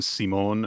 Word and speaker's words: Psymone: Her name is Madame Simone, which is spelled Psymone.